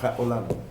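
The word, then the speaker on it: העולם: Entonces aunque está aunque aunque está escrito junto se pronuncia casi separado ja olam ja olam se produce Ja olam pero la raíz de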